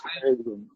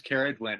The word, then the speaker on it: Ceridwen: Hu, and it's interesting, Carrie pronounces Ceridwen. I've been pronouncing it Ceridwen. I haven't looked it up to see if that's a hard C or not. Carrie, do you have some authority around that Ceridwen pronunciation? Good. Yes, I'm Welsh, and most of these names are Welsh. Okay. So it is Ceridwen.